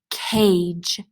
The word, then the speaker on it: cage: You can hear this sound in the word cage. Notice the G is followed by E, so it doesn't make the hard sound G. Instead, it makes the soft sound J.